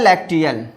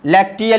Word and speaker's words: lacteal: जब इसकी बात करेंगे, इसे बोला जाता है लैक्टियल, LEACTAL होता है क्या, सॉरी यहाँ पे स्पेलिंग मिस्टेक है, जरा देख लीजिएगा आप लोग, 1 मिनट हम देख ले रहे हैं। LACTEAL, ये LACTEAL, लैक्टियल इसको बोला जाता है।